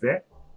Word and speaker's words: vais: Je vais. So here I'm not pronouncing S.